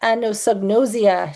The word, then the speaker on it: anosognosia: So we are going to be talking about anosnosia.